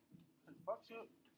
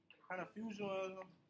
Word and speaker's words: Confucianism: Confuction? How do you say that? Confucianism.